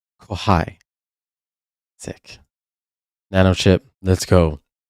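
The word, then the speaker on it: kxhai: have to say that's by k x h a i pronounced kohai sick Nano chip let's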